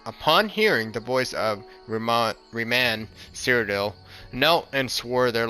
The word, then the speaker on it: Reman: We gotta get to the bottom of this because I have no clue how to actually pronounce that name. Reman. Reman. Was it? Reman. Okay, Reman.